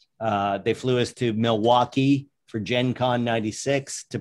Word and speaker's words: Milwaukee: they flew us to milwaukee for gen con 96 to promote to launch it uh which by the way is actually pronounced miley wakey which is algonquin for the good land well done very